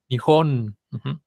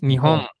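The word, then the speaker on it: 日本: aire en la nariz cuando yo tengo una palabra que termine en N la vocal de antes se va a decir nasalizada una vocal nasalizada quiere decir que el aire va a salir por la nariz Entonces no voy a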